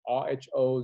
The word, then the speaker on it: rho: here is zo zo agree letter zo his pronunciation is rho zo ohm meter so